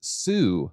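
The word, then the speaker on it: Sui: discovered that SWE is actually pronounced Sue, like tsunami.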